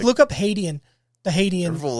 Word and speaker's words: Hadean: Isn't it pronounced Haitian? Hadean. H-A-D. It's for Hades. I thought it was Haitian. Hadean.